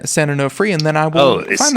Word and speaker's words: San Onofre: Google San Onofre nuclear power plant. San Onofre, California. I will have to Google how to spell San Onofre, and then I will find that.